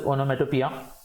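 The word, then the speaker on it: onomatopoeia: Spelling की तरफ देखोगे तो ओनोमेटोपोइया वगैरह ऐसे दिखेगा, बट it's basically refer to एज ओनोमेटोपिया।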